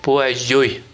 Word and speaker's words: Poiseuille: Некоторые говорят Пуазель. Ну, произношение на французский манер вообще Пуазель.